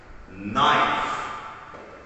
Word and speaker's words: knife: we have a word remember the rule letter k in the beginning of the word have a letter n next to it what sound does little k make silent he doesn't make no sound right all right so